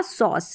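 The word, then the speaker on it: sauce: तो ये पढ़ा जाएगा सॉस। कैसे पढ़ा गया, सबसे पहले स एस के लिए, फिर AU और CE लास्ट में, तो स पढ़ेंगे, ई यहाँ पर साइलेंट है, सॉस।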